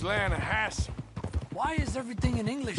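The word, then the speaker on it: Lannahechee: rode down to the Lana Hetchy River I caught some beautiful steelhead trout you mean the Lana no Lana hatch it runs right near here yeah but it's pronounced Lana Hass why is everything in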